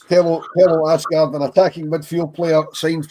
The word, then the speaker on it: Aasgaard: finger on the pulse, Ascard, I believe is how you pronounce it, you don't see the H according to our Scouse Norwegian correspondent Trev. So, it's Tel Asgard, an attacking midfield player